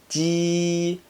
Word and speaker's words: 鸡: G is a bit like a G in Jeep, but you need to pull the corners and mouth straight back to pronounce it. 鸡.